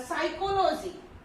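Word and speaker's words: psychology: The next thing is साइकोलॉजी, okay, तो इस सभी में क्या है पीएस पीएस पीएस है यूज हुआ है, और क्या है इसमें पी साइलेंट है, पी वर्ड जो है वो बिल्कुल भी साउंड नहीं कर रहा है।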